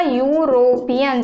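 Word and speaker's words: European: लेकिन जब हम इसे प्रोनाउंस करेंगे तो ये क्या आएगा, यूरोपियन। जैसे यूनिवर्सिटी में हमने देखा तो ये यूरोपियन, यू आया इसका उच्चारण, तो यहाँ पे हम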